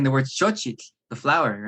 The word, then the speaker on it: xochitl: But if you're going to speak it in Nahuatl, then you want to try and make the native pronunciation. It's xo and chitl. And beginners will have difficulty with that because we want to assimilate those two sounds. We want to say xochitl or chochitl, one or the other.